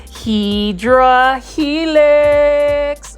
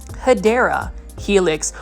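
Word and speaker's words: Hedera helix: you ready to um say it with me HRA helix or the correct way to say it is hadera helix or the English ivy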